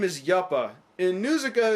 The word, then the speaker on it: Yupa: She then meets up with the warrior whose name is Yuppa. In Nuzuka it's pronounced Yupa, but I'm gonna assume that's just a semantics error.